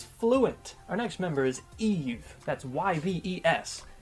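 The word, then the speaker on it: Yves: that's y-v-e-s it's pronounced Eve not Ives if you say Ives fair I get it I see where that came from it's French though so that's why it sounds completely wrong she is not French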